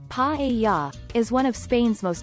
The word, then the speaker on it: paella: Paella, pronounced pa-e-ya, is one of Spain's most iconic and beloved dishes.